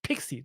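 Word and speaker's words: PKCE: great first of all that pkc is pronounced pixie this was interesting I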